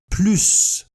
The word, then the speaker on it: plus: Attention, la prononciation de plus change quand on compare des quantités. On prononce ici plus. Elle travaille plus. Plus de patience. Plus de chance.